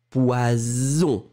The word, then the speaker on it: poison: Voyelle, voyelle, un S, ze, baise, poison.